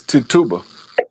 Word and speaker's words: Tituba: So I went and pulled up, did the research about Tib Tuba. That's how you say her name. It's Tituba.